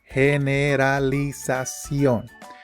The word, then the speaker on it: generalización: O the big word, generalización. Remember that when you are reading in Spanish, you simply pronounce each syllable.